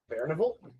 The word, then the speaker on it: Barnival: I've chosen to spell that like Carnival, but just with bear instead of car. Barnival.